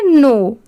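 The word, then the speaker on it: know: के एन ओ डब्ल्यू इसे हम क्या पढ़ेंगे नो। ठीक है? यहां पर भी के लेटर साइलेंट है। सिर्फ हम नो पढ़ रहे हैं। यहां पर डब्ल्यू भी साइलेंट है।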